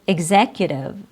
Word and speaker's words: executive: E X is followed by a vowel in the word executive. Executive ex is followed by the vowel E in the word exam. Exam. EX is followed by the letter A. And that's also true with the rest of our examples. E X is followed by a vowel with an I with an A, with an A.